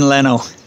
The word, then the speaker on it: Lenno: We are in Lenno, and we'll go maybe walk around Lenno a little bit and then make our way back to Varenna.